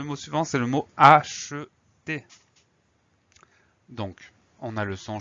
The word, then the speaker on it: acheter: à écrire parce que parfois on va prononcer acheter, donc che, et parfois, comme dans tu achètes, on va prononcer le son avec le son e.